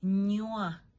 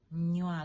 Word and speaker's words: nywa: Okay, so first of all, let's go ahead and give some examples of 4-letter syllables. The first example is nywa. Nywa, like drinking something.